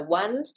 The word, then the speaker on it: one: So one and once, we've got a W sound at the beginning, which is not represented.